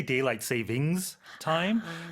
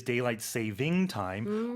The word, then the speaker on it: daylight saving time: They say daylight savings time, but technically it is daylight saving time, or you can just casually refer to it as daylight savings.